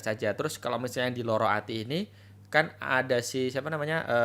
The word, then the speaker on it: Lara Ati: Tadi lu bahas tentang Loro Ati ya, bacanya Loro Ati.